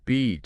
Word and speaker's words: beach: Beach. Short. Long sound. Yes, and bitch, short S sound, like sit, live, B-H. Short sound. Making that beach vowel long and clear, that's really important for avoiding embarrassment.